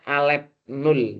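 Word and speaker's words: ℵ₀: Bilangan kardinal himpunan bilangan asli N diberi notasi N0 seperti ini bacanya alef 0 teman-teman, atau alef 0.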